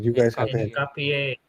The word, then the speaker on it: Hincapié: I don't know how to pronounce it. You guys have the head. Hincapié. Hincapié, Hincapié, Hincapié.